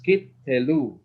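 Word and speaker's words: קטלו: So it's kitelu, kitelu, kitelu, okay? Kitelu, all right? So this is how you pronounce the word kitelu, right?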